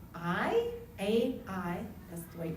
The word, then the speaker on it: Ai: Some of the cities, Jericho, a city called Ai, that's the way you pronounce it, AI, which is described as being